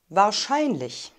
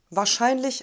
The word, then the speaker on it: wahrscheinlich: ausräumen die nummer vier wahrscheinlich war shine mich wahr scheinlich wahrscheinlich die betonung liegt auf der silbe schein dass er in bar